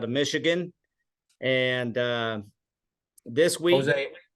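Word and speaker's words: José: And this week, Jose, you spell it Hosa. yes, Jose with an H.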